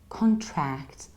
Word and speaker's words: contract: so we say a contract contracts so I say con not come but con and then I don't use the ending I say tract like attract contract contracts and in the